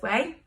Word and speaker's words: MUA: it which is this way so I give it all a twist like this and then I take my wave spray from way which is spelt MUA I and pronounced way because that's what we do